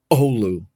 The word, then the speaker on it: Oulu: told by the way accent on the first syllable Olu like if you walk